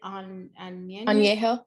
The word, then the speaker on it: añejo: Añejo.